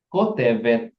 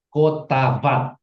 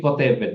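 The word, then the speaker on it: כותבת: Maka sudah kita tahu ini bacanya adalah Kotevet. Ya, Kotevet, bukan Kotavat, tapi Kotevet.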